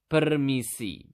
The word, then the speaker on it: permisi: To say excuse me in Bahasa, you simply just need to say permisi.